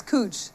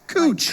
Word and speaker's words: Couch: It's Cooch. Cooch. Like Coochie Coo.